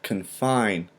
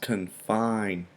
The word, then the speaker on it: confine: Today's word, we have confine. Confine. Two syllables, confine. The stress or the accent is placed on the second syllable, confine.